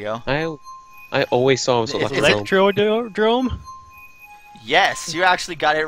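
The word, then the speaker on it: Electrodrome: the truth and then tell me how it's pronounced once you see it there you go no I always saw electrode room yes you actually got it right I was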